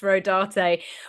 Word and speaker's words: Rodarte: The only reason why I know it's pronounced Rodarte was because I looked up the designers.